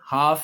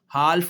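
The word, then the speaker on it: half: में रखनी है कि अगर एफ से पहले एल आ गया तो फिर एल जो है ना वो साइलेंट हो जाता है। एफ साइलेंट नहीं होगा। एल साइलेंट हो जाएगा। जैसे आप ये देखें हाफ है ना लफ्ज हाफ एल नहीं बोल रहा। हालफ नहीं कहना इसे हाफ है।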